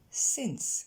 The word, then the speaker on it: since: On commence par la prononciation, elle est relativement simple, vous avez qu'une voyelle, c'est le son et dans since, et donc ce n'est pas un i.